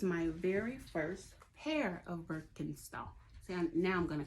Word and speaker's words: Birkenstock: a pair of these, then you would call it probably Birkenstock, right? Well, in Germany, they call these shoes Birkenstock. Birkenstock. Did I say that right? Birkenstock. That's how they say it in Germany, Birkenstock.